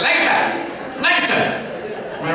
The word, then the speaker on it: Lancaster: Don't say Lancaster, right? That means your mother's a pig in Amish. They get really mad. You gotta say it like you're in a kung fu movie. You gotta say Lancaster, Lancaster.